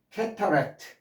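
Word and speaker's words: cataract: 그다음에 워터폴 예 그다음에 캐터렉트 큰 폭포를 캐터렉트라 그럽다. 캐릭트 캐릭트 그러는데요. 캐터 실제 발음은 캐는 법칙에서 캐터가 아니라 모음과 모음 사이에는 T나 d를 르 발음을 하는 거죠.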